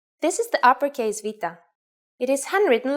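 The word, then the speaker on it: βήτα: Its name is Vita. In English, it is commonly called beta, but in fact, this letter has a V sound.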